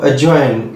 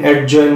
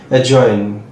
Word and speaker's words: adjoin: Next আর একটা D silent word দেখো অ্যাজয়েন, ADJOIN, অ্যাডজয়েন নয় অ্যাজয়েন।